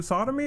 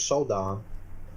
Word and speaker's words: Sodom: So I assume they censor his name or changed it because Sodom relates to sodomy or something like that.